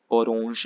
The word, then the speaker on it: orange: feminine which is orange it spelled the same way in english as well pronunciation is a little different okay it's orange in the masculine orange